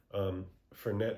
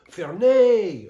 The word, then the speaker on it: Fernet: I was like, I point, and he's like, oh, Fernet. Oh, why didn't you say Fernet? I'm like, all right, bro. I don't know. I guess French people don't pronounce the T in Fernet, so something you should know if you're ever visiting.